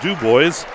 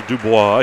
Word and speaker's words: Dubois: quarter sponsor Penn State duw boys or in Daves Ro Dubois he prefers the French pronunciation we continue here a